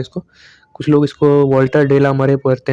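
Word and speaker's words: Walter de la Mare: तो इनको जो प्रोनाउंस किया जाएगा एक्चुअल में वो होगा वॉल्टर डेला मेयर।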